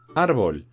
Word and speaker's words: árbol: Árbol, árbol, la sílaba tónica es ar. Y como además de ser llana, no acaba ni en N, ni en S, ni en vocal, porque acaba en L, le ponemos tilde en la A.